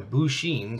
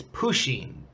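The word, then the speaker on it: Pusheen: So I'm guessing a Bushin, sorry if I misspelled it, is like a stuffed cat with different clothing on it. Well, you did actually misspell it. It's Pushin. Poo with a P. U-S-H-E-E-N. Pushin.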